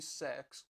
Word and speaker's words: CeX: shepherd's westfield yeah westfield yeah we went into sex because that's how it's called apparently but i'm